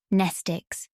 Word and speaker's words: mnestic: be impossible to remember nestic class w X Y and Z same Greek root as the word pneumonic the m is silent in her bag her